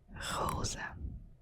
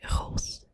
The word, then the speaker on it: roze: And pink in Dutch is roze. Roze. Roze. And sometimes we also say roos, which is written R-O-O-S. But the official word is roze. So it's kind of like the flower, a rose.